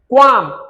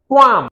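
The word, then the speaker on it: qualm: क्वालिटी क्वालिफाई क्वालिफाई क्वालिटी क्वाम इसमें L silent है क्वाम quantity query तो ये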